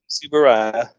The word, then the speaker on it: Tsuburaya: Tsuburaya.